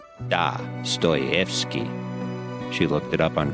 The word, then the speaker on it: Dostoevsky: Apologies to my wife Pamela for mispronouncing Dostoevsky. I've been pronouncing it wrong for years. Old habits die hard. It's actually Dostoevsky.